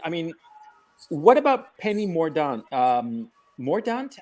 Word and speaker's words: Mordaunt: But the question, I mean, what about Penny Mordaunt? Mordaunt? How do you pronounce it? Mordaunt.